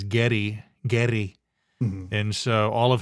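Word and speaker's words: Geddy: after the war and his mom pronounced Gary as Getty gy and so all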